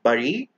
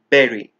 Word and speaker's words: berry: Nana in English and we do not pronounce this word as Bari we pronounce it as Berry and for your convenience